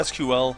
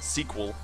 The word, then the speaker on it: SQL: whatever some people call I call it SQL some people pronounce it and call it squl I think that's stupid but it's it's whatever